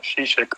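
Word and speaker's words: Žižek: Y el último autor en este sentido, Zizek también, o Zizek, como lo pronuncian algunos que lo conocen mejor, habla de, bueno, cómo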